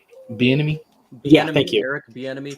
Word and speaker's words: Bieniemy: or Salah, or I can't remember how to pronounce his name. Bieniemy?